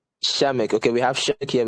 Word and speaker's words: Przemek: CEO, which is I don't know how to pronounce the name. Zemek here with us. It's Przemek. Shamek.